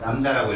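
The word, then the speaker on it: lambda: 뭐라고 읽어요? 람다라고 읽어요. B가 무구입니다.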